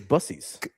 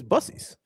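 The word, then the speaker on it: Buc-ee's: No, it's Bucce's. Kobe, you don't think so? Brandon knows. See? No, I know. He's dead serious. He used caps like Kobe. Yeah. Brandon knows it's Bucce's.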